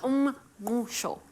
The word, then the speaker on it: Umngqusho: How do you pronounce samp and beans? Umngqusho.